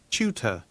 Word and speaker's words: tutor: 추 완전 추는 아니고 약간 튜와 추의 중간쯤 얼핏 들으면 약간 추에 가깝게 들립니다.